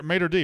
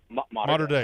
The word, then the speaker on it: Mater Dei: played at Mater D, right? Mater Dei, Dei, excuse me.